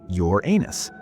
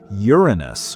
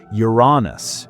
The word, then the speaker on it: Uranus: The correct way doesn't sound like a butt joke at all.